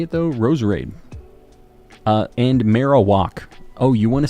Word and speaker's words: Marowak: how you say it though Ros uh and marow walk oh you want to say marow walk okay I'll start saying Marowak I know how much you guys like that